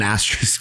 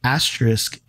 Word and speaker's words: asterisk: beside it oh gosh is it as as how do you say it is it I know but there's an s in there no there's only an asteris if there's multiples asterisk is how you it's a Sisk e r Asis R